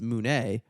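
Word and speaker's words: μουνί: money in Greek is moune, which just sounds like, or pussy in Greek is moune. That's how you pronounce it, which just sounds like money with a French accent.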